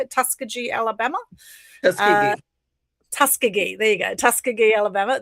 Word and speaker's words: Tuskegee: Tuskegee.